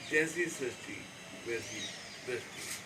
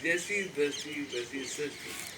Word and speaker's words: Jaisi Drasti Veisi Srasti: Sinaji, is going to speak next episode of Jesse Sasti Vesi Dusty. Or, I must say it correctly, Jesse Dusty Vesi Sasti. This is the right way to say Jesse Dusty Vesi Sasti.